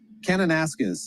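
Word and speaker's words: Kananaskis: David, what's a proper pronunciation there? Canonis.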